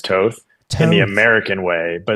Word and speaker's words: Toth: Okay, because I probably because my family's European, I'm more accustomed to the European pronunciations to where I actually had to learn